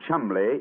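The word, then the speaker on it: Cholmondeley: know that the name chumbley is in no way pronounced the way it is spelt well johan never thought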